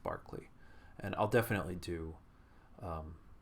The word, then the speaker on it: Berkeley: guy named George Barkley spelled like Berkeley but pronounced Barkley and I'll definitely do